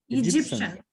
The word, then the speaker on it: Egyptian: Egyptian. Но тианде пратва. Ушул тианде всегда шын деп эле окуп коюңуздар. Тианде окулбайт да.